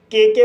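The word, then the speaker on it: cooked: कुक कु शब्द में के के बाद ई डी जोड़ा गया है। इसलिए डी का उच्चारण ट होगा। इसलिए इसे कुक पढ़ा जाता है।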